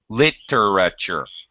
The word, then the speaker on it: literature: hear literature literature sorry literature should be four syllables L okay ah and